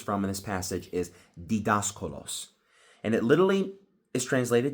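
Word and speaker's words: διδάσκαλος: So the Greek word teachers is called and pronounced didaskalos. Again, didaskalos. So the Greek word which we're deriving teachers from in this passage is didaskalos.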